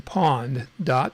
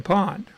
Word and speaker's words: pwned: service from a website called I have been pawned calm and you insert your email in that